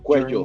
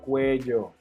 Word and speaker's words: cuello: Sometimes students, they have issues with the pronunciation of this word because they say cuello. Cuello. Remember, in this case, double L is like a J sound.